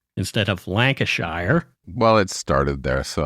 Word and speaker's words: Lancashire: But so the Brits have different ways of pronouncing, Lancashire instead of Lancashire.